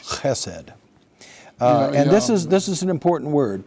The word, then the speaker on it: chesed: It's chesed. Just two syllables, and sometimes you'll see it H-E-S-E-D mm-hmm. in English, and sometimes you'll see it C-H-E-S-E-D.